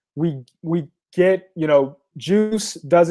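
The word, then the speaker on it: Guice: so we use the juice library and it's spelled with the g but it's pronounced juice we use the juice library to to sort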